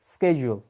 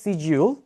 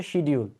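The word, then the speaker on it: schedule: This word would be স্কেজুল। স্কেজুল, right? স্কেজুল হচ্ছে American accent, আমেরিকানরা এটাকে স্কেজুল বলে, ব্রিটিশরা বলে এটাকে সিজিউল, আর বাংলাদেশিরা বলি আমরা হচ্ছে শিডিউল। শিডিউল নামে কোনো শব্দ নাই, এটা ভুল, ঠিক আছে?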